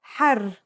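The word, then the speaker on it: حَرّ: Har means hot, while hur means free.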